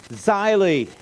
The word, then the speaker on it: Zeile: Richard and then it rhymes with smiley shyly that's German for a line of print or a furrow in the field and German has though has a rule that when two vowels go walking the second one does